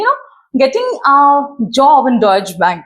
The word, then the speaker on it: Deutsche Bank: Before that I want to understand like you know getting a job in Deutsche Bank right that's how you pronounce it? Yeah Deutsche Bank.